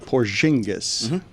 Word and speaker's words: Porzingis: How did you pronounce Kristoff's name? He said Porzingis. Yeah, that's how you say it. Porzingis.